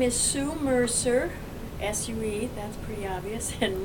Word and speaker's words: Mercier: out say first and last name and then spell it out okay my name is Sue Mercer Su that's pretty obvious and Mercer is m